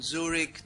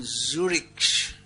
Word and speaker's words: Zurich: So if you're on a flight from Zurich, how do you pronounce it? Zurich? I won't even try. That German z is different to the English one.